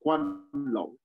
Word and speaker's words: Guanlong: Yes, it's written G U A L L O N G, and the G is pronounced like a K in the Pinyin system. So Guanlong aristocracy, and that Guanlong aristocracy was in the